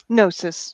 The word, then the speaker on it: gnosis: personal experience and geonosis gnosis yeah the g is not usually pronounced okay nurses contact contact